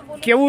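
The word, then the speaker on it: queue: केवू एक ऐसा शब्द है जिसको बोला भी केवू जाता है और इसकी स्पेलिंग भी उड़ केवू यू ई ये है।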